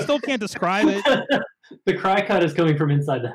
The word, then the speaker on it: Cricut: There's a whole thing if you're into using, is it, I don't know how it's pronounced, Cricut, like the paper cutting, wood cutting tool, Cry cut.